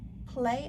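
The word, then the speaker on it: Plae: This is Play, I think how you pronounce this.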